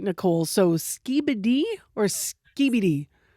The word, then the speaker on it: Skibidi: So, Skiibbidy or Skiibbidy?